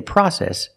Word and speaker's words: process: we say process use the short a sound like hot and stop the open Sound a PR process we say process in American English example learning a second